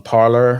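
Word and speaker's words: Parler: can get us on parlor or parlay however you want to say that is parlay is French but it's spelled parlor um so you can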